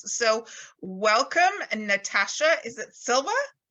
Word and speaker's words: Silva: Is it Silva? Silva, yes.